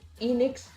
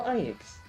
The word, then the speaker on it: Enix: Cuz again, depending on the region, depending on the you know, on the pronunciation and stuff, people may pronounce it as either Enix or Inix.